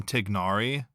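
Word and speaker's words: Tighnari: community is saying that if you if you call him tignari it's like perfectly acceptable you're not getting laughed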